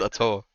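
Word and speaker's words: Atow: saying is, I think Atu is better than Vatira. Or Yeah, two. Ato, Ato, Atu? bro, Ato. In French it's Ato.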